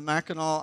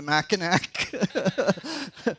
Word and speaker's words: Mackinac: I'm going up to Mackinac. It only took like 20 times for me to find it sink in. You know, okay, that C is somehow pronounced like a W.